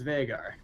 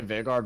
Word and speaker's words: Veigar: Let's give Fen some flack here, because I don't think it's Veigar. I just say Veigar because I think of it in American pronunciation terms rather than German, because last I checked, he's a Yordle, not a German.